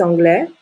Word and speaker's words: anglais: consonne donc il est anglais le s est une lettre muette il est anglais en